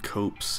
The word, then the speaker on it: copse: that's alright Oh ever heard the word copse a mean small group of trees curious go I think it's pronounced cops cops really really really